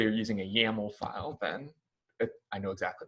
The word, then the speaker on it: YAML: compose is called dockercompose.yaml this dot yml extension is pronounced yaml if you say you're using a yml file people will look at you weird i wouldn't even recognize